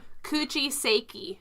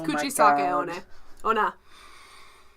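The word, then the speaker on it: Kuchisake-onna: Kuchiseki. No, it's Kuchisake Ona. A-I-U-A-O. Anyway. So, it's based off of the Japanese urban legend. But you keep saying urgent. It's an urgent legend, okay? Of Kuchisake Ona, which is the...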